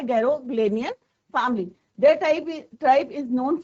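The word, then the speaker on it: Garoghlanian: तो यहाँ पे प्रोनाउंसिएशन क्या है? गैरोग्लेनियन फैमिली।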